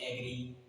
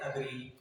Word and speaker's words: agree: देखो जो वर्ड है ना उसको कई लोग बोलते हैं एग्री, कई लोग बोलते हैं अग्री। तो इसका राइट जो प्रोनाउंसिएशन होता है वो क्या होता है? उसका होता है अग्री।